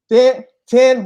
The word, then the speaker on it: Thane: So it's Thane, or it's not Tan, but Thane with the Thane, TH.